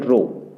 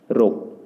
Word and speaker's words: rho: ये हमारा सिंबल है वॉल्यूम चार्ज डेंसिटी के लिए, और इसको हम प्रोनाउंसिएशन करेंगे रो के द्वारा, इसको बोलते हैं रो, RHO, रो।